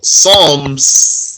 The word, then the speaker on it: Psalms: The Zabur, what people call Psalms, that's with a silent P, Psalms, did not have in it rules.